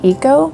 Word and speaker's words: eco: printing by the way some people have pointed out that they say eco printing and that somehow i'm saying it wrong but you know what tomato tomato right so i'm gonna keep